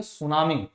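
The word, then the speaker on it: tsunami: गिरता है कि चाहिए सुनामी सुनामी बेकार पड़ा है सुनामी के बारे में बताया है कि सुनामी क्या एक जापानी शब्द है उच्चारण सूनामी जिसका मूल अर्थ बंदरगाह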